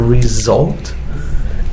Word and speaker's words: resolved: thing as well here this one over here z sound so resolved and this one s sound solved so the pronunciation is also different between these two solve or resol yeah